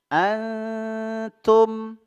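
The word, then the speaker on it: أنتم: jadi disamarkan nunnya ya Nun bertemu ta cara pengucapannya yaitu ya ketika kita menahan atau menggunakan huruf nunnya sambil disamarkan kita sudah meletakkan ujung lidah kita pada makhraj huruf ta antum Antum ya wala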